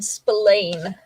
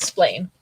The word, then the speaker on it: Spillane: Spillane. It's not spelled like David. It's Spillane. Spillane. Spillane. It sounds like Splain.